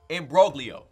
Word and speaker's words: imbroglio: that's Leo allow an imbroglio ha in all the words I said all the letters i said i am b ro g li imbroglio the G is silent all about the Morrow's